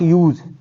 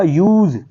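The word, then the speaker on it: use: जब आप वर्ब के तौर पे पढ़ेंगे तो ये होगा यूज, और जब आप इसे नाउन की हैसियत से प्रोनाउंस करेंगे तो फिर ये होगा यूज, एस साउंड के साथ।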